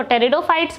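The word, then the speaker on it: pteridophytes: जो पोर्स के द्वारा करते हैं उनको टेरिडोफाइट्स बोलते हैं, पी साइलेंट होता है, और जो बाई सीड्स करते हैं उनको जिम्नोस्पर्म और एंजियोस्पर्म बोलते हैं।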